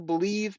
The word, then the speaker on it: Bleav: podcast it's on the believe podcasting Network it's with lions legendary safety Benny blades you got to check it out it's called bleav they pronounce that believe in Lions on the